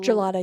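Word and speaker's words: Jollada: Gel- Gelada, yeah. Gelada, j o l l a d a. like I was reading that wrong because that's how you say the like gelada at like Italian.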